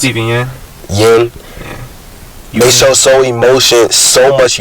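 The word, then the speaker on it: Yeun: Stephen Young, I don't know how to pronounce Stephen it. Yin.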